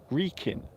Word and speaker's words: Wrekin: So this particular hill is called the Wrekin. Wrekin. W-R-E-K-I-N. So that's how you spell it.